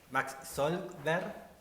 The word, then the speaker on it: Zolkwer: O sea, a mí siempre acá me dijeron Solberg, pero cuando viví en Holanda la pronunciación de allá era Solberg.